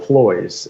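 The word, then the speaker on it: ployes: every day it's called ploys rhymes with boys ploys is p-l-o-y-e-s so ploys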